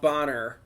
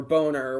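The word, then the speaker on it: Bohner: but he was cast as Ralph Bonner, or Boner, whichever way you want to pronounce it.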